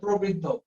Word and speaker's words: প্রবৃদ্ধ: প্রবৃদ্ধ বিদ্যুৎ কোণ বোরা প্রবৃদ্ধ না, উচ্চারণটা প্রবৃদ্ধ। বিদ্যুৎ স্যার প্রথম শুরুতে কোন ব্যঞ্জন বর্ণের মধ্যে রফলা হলে সেটার উচ্চারণ অ মানে বিবৃত হয় না, সংবৃত হয়।